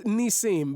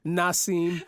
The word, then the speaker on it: Nissim: No, it's Nissim. But what what you know I answer I answer to Nissim. Uh you know in the hood people can't really pronounce it. So they call me Na Nasim.